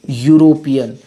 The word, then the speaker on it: European: यूरोपियन, यूरोपियन, यो से इसका उच्चारण आ रहा है।